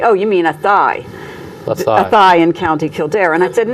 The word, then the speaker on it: Athy: and I said, "My father's from Athay," and they'd say, "Oh, you mean Athy?"